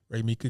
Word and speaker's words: Raemeka: my name i've been saying it wrong i've been saying ramika it's okay cause my mom was just doing too much anyway okay oh okay i got you ray mika that's dope okay cool cool cool